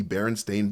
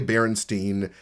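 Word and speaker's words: Berenstain Bears: the pronunciation of the Baron Stain Bears in season 1. And even though I said Baron Stain, I still say Baronstein on my free time because it is the Baronstein Bears.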